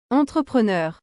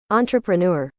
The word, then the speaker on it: entrepreneur: our next word entrepreneur this is one of many words that have been borrowed from French and the pronunciation is the sameish but not really the pronunciation is really an Americanized version of this French word I'll I'll let you